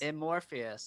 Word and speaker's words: Amorphous: of his new album uh um am i pronouncing this cricket mobius amorphous amorphous okay i'm so dyslexic sorry comes out february